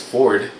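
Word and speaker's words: Forde: of power and started 4D Media. My last name is Ford, but people pronounce it 4D. It's F-O-R-D-E. So it's Ford, but 4D Media, kind of double entendre, if you will.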